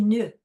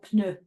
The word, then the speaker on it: pneu: says, il a des nœuds, le camion. And he says, nœud for pneu. And the mother immediately says, oui, il a des pneus, pneu, and she pronounces it twice.